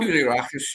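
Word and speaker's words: Koulierakis: Is that how you pronounce it? Do you know what I'm talking about? Koulirakis, yeah.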